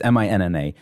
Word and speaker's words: Minna: And the person being interviewed primarily is Rabbi, I'm guessing her first name is pronounced Mina. Yes. It's Minna.